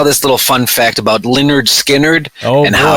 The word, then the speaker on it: Lynyrd Skynyrd: Skynyrd one of their albums was called it's pronounced Lynyrd Skynyrd that's funny because people are like how do